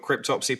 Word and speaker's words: Cryptopsy: You got Cryptopsy playing as well.